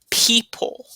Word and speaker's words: people: People, people. Don't forget the O in people.